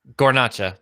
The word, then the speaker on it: Guarnaccia: Yes, and Guarnaccia.